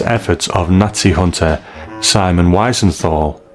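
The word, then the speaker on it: Wiesenthal: Thanks to the Mossad and the relentless efforts of Nazi hunter Simon Weisenthal, pronounced Visenthl.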